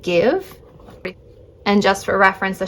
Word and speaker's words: GXVE: I believe it's pronounced Give.